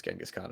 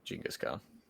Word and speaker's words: Genghis Khan: Which is apparently mispronounced as Genghis Khan. It should be called Genghis Khan.